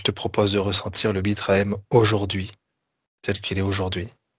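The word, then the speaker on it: Bitrahem: Allez, toujours avec votre corps, je vous propose de ressentir la vibration du terme Bitraem. Bitraem. 3 syllabes. Bit, B-I-T. Ra, R-A. M, H-E-M.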